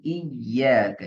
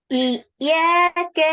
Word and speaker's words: إياك: அதே போல இய்யாக யால ஷத் எடுத்து உச்சரிக்கணும். இய்யாக நஅ்புது. இய்யாக நஅ்புது யால ஷத் எடுத்து உச்சரிக்கணும். சரிங்க. إياك نعبد وإياك நான் نستعين.